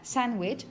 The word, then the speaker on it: sandwich: You're going to use vowel number 4 for that, sandwich.